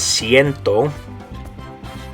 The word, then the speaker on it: cien: And the way you're going to say this one is ciento.